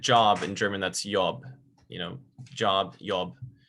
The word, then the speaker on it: Job: job if i said job in german that's yob you know job job j sounds different okay